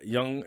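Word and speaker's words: Yonge: yeah it's a silly name the Young The Young is spelled like y o n y o n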